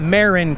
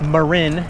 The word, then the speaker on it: Marin: And it's not Marin County, it's Marin County.